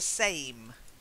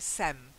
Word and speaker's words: same: There's also same, the same. Long A. The same. Same, yeah. The same. Quite often you say it like it's like sem, okay?